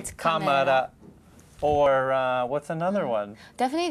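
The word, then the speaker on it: カメラ: You wouldn't say camera. Yeah. You'd say kamara.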